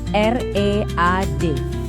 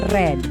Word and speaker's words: read: Kalau sebagai verb satu dibacanya read, tapi pas dia jadi verb dua atau verb tiga di masa lalu bacanya red, kayak warna merah.